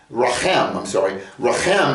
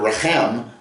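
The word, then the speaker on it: רֶחֶם: Rachem is womb. Interesting that the word Racham, and they're spelled the same. Raham, compassion, mercy, and the word Rachem, womb, spelled the same, just pronounced different.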